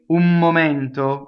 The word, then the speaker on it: un momento: So you have un, right? Usually it's un, right? Now you're going to say un momento. What happened to the N? Watch again. Un momento. It just went into an M, didn't it? It stayed on my lips.